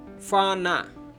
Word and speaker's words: FANA: federally administrated northern area it's been pronounced in urdu fana such as fata is a different but sort of pronouncing is the same fauna federally administered in